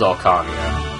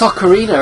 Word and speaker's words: Ocarina: I think it was Orcania. I didn't want to go back and reread it in case I missed. Oh, it's Ocarina, isn't it? That's how it's pronounced.